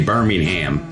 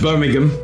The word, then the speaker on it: Birmingham: wrong cuz you know here we say Birmingham we're just utterly American but it's Birmingham you you're Birmingham England that's right yeah I